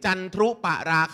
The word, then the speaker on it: จันทรุปราคา: จันทรุปราคา 5 ทิ้ง ๆ ว่า จันทรุ นะ ลูก ออก เสียง ซี๊ด จันทรุปราคา ถ้า ไม่ ใช่ จันทรุ